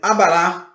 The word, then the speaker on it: abará: Por exemplo, abará, acentuado. Abará, tá ok? Esse último A, ele é acentuado.